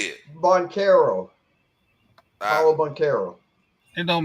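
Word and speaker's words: Banchero: Boncaro.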